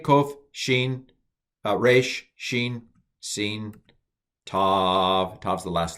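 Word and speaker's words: ת: It used to be that this was pronounced Th. So T, Th. I'm not going to do that. So with the Dagesh, without the Dagesh, I'm going to pronounce it the same.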